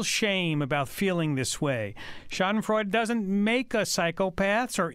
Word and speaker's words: Schadenfreude: So Schadenfreude, so four syllables. Usually in German.